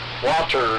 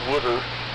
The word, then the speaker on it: Walter: I mean, you had to enunciate, like Walter, not Wooder.